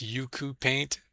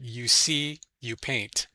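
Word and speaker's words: Ucupaint: And if you haven't used the I know a lot of people call this yuku paint, but I think it's pronounced you see you paint, as in you see, you work, you know, that kind of thing.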